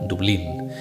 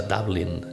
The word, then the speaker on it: Dublin: Dublín, que seguramente muchos de vosotros pronunciaréis de la forma española, Dublín. Pero a mí siempre me gustó más, me atrae más la pronunciación inglesa, Dublín.